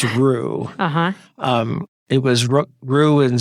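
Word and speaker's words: Ruch: I never say his name correctly. It's Rook. It looks like Rook, R-U-C-H, but I believe it's Roux.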